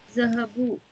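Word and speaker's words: ذهبوا: Now, they went is Zahabu. Note that there is an alif at the end of the word which is not pronounced.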